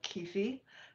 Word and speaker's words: Kyphi: of making comment or key fee KIFI depending on your pronunciation ancient Egyptian temple incense